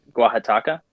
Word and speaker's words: Oaxaca: The Oaxaca.